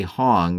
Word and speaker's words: Hong: When it does, at that point, rationally say Hong, rhymes with tune.